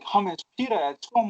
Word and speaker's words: hummus: We all know hummus, and yes, it's pronounced hummus. I know lots of people like to say hummus, but it's hummus, and Hummus, not humus, Hummus.